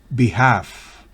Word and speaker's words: behalf: L en la combinación ALF al final de una palabra no se pronuncia. Por ejemplo, calf, que significa ternero. Behalf, en nombre de.